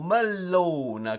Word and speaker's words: mellone: pane, o young, mentre o mellone con doppia L pronunciamo è l'anguria, un mellone russo.